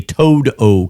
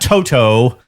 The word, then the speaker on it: Toad-O: get backstage at a Toad-O concert. Well, that's a real band, though. No, not Toto. Toad, like a frog, -O.